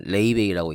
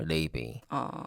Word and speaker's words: Laufey: 제가 조금 전에 얘기했던 뮤지션은요 레이베이라고 읽네요. 레이베이. 발음이 참 특이하죠.